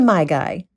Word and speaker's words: MaiGai: we'd like to introduce you to my guy that's spelled m-a-i-g-a-i and he's a distinguished older gentleman